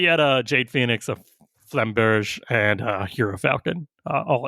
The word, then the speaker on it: flamberge: a 4/5 Jade Phoenix, a Flameberg is how you pronounce it. No, He's not. doing this on purpose, mispronouncing Uziel, Flameberg. God. No, it's Flamberge is how it's Flamberge in French.